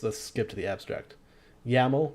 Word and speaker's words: YAML: skip to the abstract yaml rhymes with camel is a human-friendly cross-language